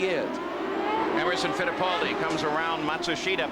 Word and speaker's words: Matsushita: By the way, that's the pronunciation that now Hiro himself has asked all the announcers to use. We know it's not the same pronunciation that the family uses or he uses in Japan, but it's what he wants.